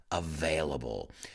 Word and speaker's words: available: that word because a lot of my students mispronounced that word available that got that v in that b let's hear it available then i uh i went into director mode